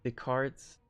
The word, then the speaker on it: Descartes: Now I know you don't say that his name like that in French, but I'm an American and we say it like that.